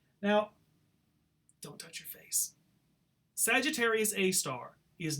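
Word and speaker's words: Sagittarius A*: call this black hole Sagittarius a star that asterisk is pronounced star Sagittarius a star it's in the constellation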